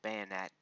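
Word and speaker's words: Banette: the Bonetti ax here a bayonet ax as most people like to pronounce it so this little artwork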